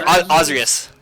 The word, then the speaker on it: Ozrius: He said your name, but weird. Oh, wait. He called you Osiris. You're Ozrius.